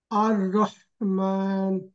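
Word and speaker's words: الرحمن: জাহিদ ভাই আর রহমান আর রহমান বুকে চলে যাচ্ছে সাউন্ডটা গলায় ধাক্কা দেন গলার মাঝখান থেকে আর রহমান এবার ঠিক আছে বেটার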